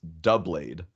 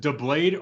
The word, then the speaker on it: Doublade: Is it pronounced doublade or is it pronounced like doubled? Dubalde? Dubalde. I want to throw into the ring dubla d dubla da.